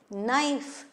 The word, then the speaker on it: knife: Knife, K-N-I-F-E, but K is not pronounced at all, we say knife.